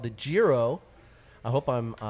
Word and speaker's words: Jiro: I actually have a Japanese rice lager called the Jiro. I hope I'm pronouncing that right. It's either the Jiro or the Hero. Nailed it the first time.